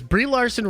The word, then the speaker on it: Brie Larson: Matthew says, Brie Larson rhymes with she fartin'.